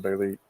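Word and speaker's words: Bêlit: Farnsworth Wright, the editor of Weird Tales, put a circumflex over the I. So I'm not all that conversant with it, but I think that makes the pronunciation Belit.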